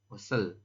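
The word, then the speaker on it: 옷을: Osel. Ya. Dibacanya osel ya, tapi penulisannya adalah ot.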